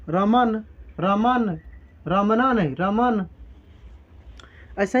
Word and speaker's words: रमन: उच्चारण में लास्ट में अ नहीं उच्चारित हो रहा है। यहाँ पे हम लोग बोल रहे हैं रमन, रमन नहीं बोल रहे हैं, हम लोग बोल रहे हैं रमन।